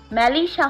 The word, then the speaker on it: মেলিসা: কিছুটা চিৎকার করে আদনান বলে, এই মেলিচার বাচ্চা। ওটা মেলিচা না মেলিসা হবে মূর্খ কোথাকার সিরিয়াস টাইমে বানান